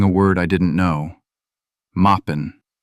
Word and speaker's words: Moppin: Moppin'. That's how she said it. Mop-in. 2 syllables.